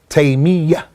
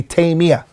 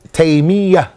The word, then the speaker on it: Taymiyyah: pronouncing his name is Taymiyyah, with a shadda on the ya. Many people make it with takhfif and they say Taymiyyah. The correct way is Taymiyyah.